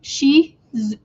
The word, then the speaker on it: Shih Tzu: It's actually Shih Tzu. Excuse me. Shih Tzu. Shih Tzu. And that T is silent.